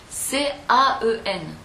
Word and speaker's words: quand: C'est pas logique, mais la ville, ça s'écrit C-A-E-N. Et ça se prononce comme le mot Caen pour poser une question, qui lui s'écrit Q-U-A-N-D.